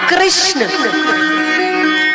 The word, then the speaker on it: कृष्ण: भगवान का नाम रखा कृषण कृष्ण कहने में जी घूमती है बोलिए घूमी जिसकी नहीं घूमी गलत बोल रहा है मतलब हा उच्चारण ऐसा ही है अगर उच्चारण सही करेंगे तो जी घूमेगी उनका नाम ही इसलिए